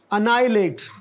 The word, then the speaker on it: annihilate: और ये जो है इसमें एक लेटर साइलेंट है, और वो है एच। अनाइलेट।